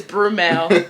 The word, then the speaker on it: Brumel: Mind you, his name is spelled B-R-U-M-E-L. So I don't know why people be calling him Bruno. Like, where did y'all get the N?